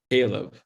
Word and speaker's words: Caleb: i keep misspelling your name how do you pronounce it caleb caleb it's okay a lot of people do